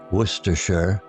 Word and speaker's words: Worcestershire: A tangy condiment that whose pronunciation worersher often bewildered visitors over a hearty meal.